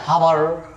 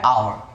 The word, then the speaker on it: hour: HOUR. आप पढ़ते क्या? हावर. हावर नॉट. आपको हावर नहीं पढ़ना, समझ लो है ही नहीं. साइलेंट मतलब है ही नहीं, समझो इसको, तभी आप इसको राइट प्रोनाउंसिएशन कर पाएंगे, राइट. तो है आवर. पढ़ेंगे इसको आवर. आवर. आवर, right.